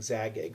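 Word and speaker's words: Zagyg: Castle Zig so um or Zig or however you know people pronounce it I believe I I heard yesterday during um a TR Lord games live stream uh Luke IEX was saying zag EG so I will try to stick to zag EG um so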